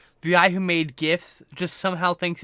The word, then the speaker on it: GIFs: You know, like the guy who made GIFs just somehow thinks it's GIFs, and I'm like, nah, it's GIFs. It's a hard G, Yes.